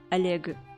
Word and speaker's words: Oleg: It's just Oleg, and his name is pronounced Oleg.